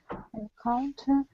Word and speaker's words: encounter: It's 1, 2, 3. 3 syllables and stress. And has stress on second one. Very good. Yes. So 3 syllables. Encounter. Encounter. So the stress is on the second syllable.